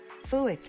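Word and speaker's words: Fuack: Fuick. Fuick. Fuick. Okay, that's better. Okay, Fuick. We've got Fuick here, which is a water duck.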